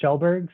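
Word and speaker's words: Kjellberg: uh the easiest name it's pronounced shelburg so i always uh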